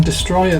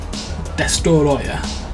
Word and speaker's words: Destoroyah: There's that cool looking destroyer there. Destoroyah, to pronounce it properly.